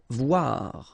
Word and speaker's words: voir: Voir, okay, same thing here, OI, OA, voir.